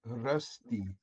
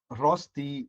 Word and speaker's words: Rösti: So since you have two dots, it's the umlaut, you say Rösti. Cuz if it's Rösti, it will actually become rusty in English.